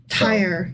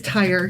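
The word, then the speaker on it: Tyre: But here that you're referring to is actually pronounced tire. Oh, I always get that wrong. Yeah, tire.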